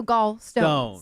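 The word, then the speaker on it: gallstones: Okay, because it's your gall bladder, so gall stones.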